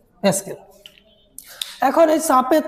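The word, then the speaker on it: pascal: এটাকে আমরা পিএ দ্বারা লিখতে পারি, এর উচ্চারণ হচ্ছে প্যাসকেল। প্যাসকেল।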